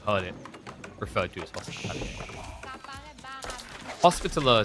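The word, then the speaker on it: Hospitaller: Uh hospitalier is because of the French origin from But I'm pretty sure I've only ever heard it referred to as Hospitaler sounds kind of hospitaler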